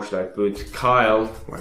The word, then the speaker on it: Kyle: And as you can see, now it's only going to print So print case, we'll say our name is Kale. Well, Kyle, I mean it's pronounced Kyle.